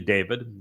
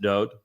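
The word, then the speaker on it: דוד: His name is Dod. It is not actually David. It's Daleth Wah Daleth would be pronounced Dod.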